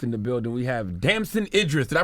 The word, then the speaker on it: Damson Idris: We have Damson Idris. Did I pronounce that right? Did I land that? He pronounced it right. You're the first person to pronounce that right. Damson. What did they say? Damon.